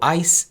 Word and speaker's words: eyes: al final por ejemplo eyes es con el sonido de ese mes al final eyes y es el plural de ojos se pronuncia con vibración en frente de mi boca esto ocurre mucho en